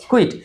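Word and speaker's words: quiet: তাহলে আমরা বলব ন্টার মর্নিং উইন্টার মর্নিং আর কুইট কুইট এইযে কিউ ইউ আই ইটি এই যে শব্দটা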